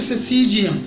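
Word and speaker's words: Syzygium: एक और मेडिसिन आपकी स्क्रीन पर, उसका स्पेलिंग आपकी स्क्रीन पर, और अगर इसको हम प्रोनाउंस करें तो इसकी प्रोनाउंसिएशन बनेगी ससीजियम।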